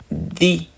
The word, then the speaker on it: the: Et the, lorsque ça suit une voyelle, ça se lit di. Le the devient di, di.